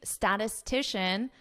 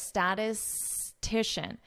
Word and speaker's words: statistician: take a look at this could be a difficult word to pronounce statistician petition so notice how I connect this statistician statistician statistician try it statistician okay you can